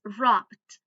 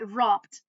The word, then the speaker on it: rubbed: It's rubbed. Okay. With B, we pronounce it with D, okay? So, rubbed here, rubbed.